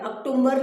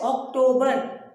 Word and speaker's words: October: अक्टूबर नहीं बोलेंगे आप. It is pronounced as October.